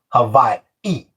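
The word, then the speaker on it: Hawaiʻi: Like you see the word Hawaii and in between the two eyes at the end, they have the okina, which means that's why people say Hava-i, a little pause at the end.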